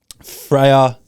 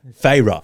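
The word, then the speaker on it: Feyre: but My predictions were Freya F. No, here's Okay, sorry. That's the only time I'm going to say it wrong. Fra. Fra. Yeah, that after we've done like what, six baddies book clubs. Fyra.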